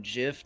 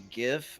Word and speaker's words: GIF: be Shenanigans now yes we chained from Jiff to GIF our proper pronunciation um so uh yeah